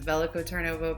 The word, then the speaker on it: Veliko Tarnovo: to talk about belico tarnovo which I will pronounce as velico turnovo because I do not have great Bulgarian pronunciation